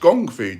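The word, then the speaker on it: kung fu: the crane kick haha it's actually pronounced gongfu did you know that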